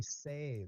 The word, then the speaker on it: Sai: But Bobby it's spelled Say. Sai. Yeah, it's Well, spelled Sai. Creasy's old, so he Yeah. probably pronouncing it wrong anyway because he's an asshole. It's Bobby Say, but he's still gonna call him Bobby Sai.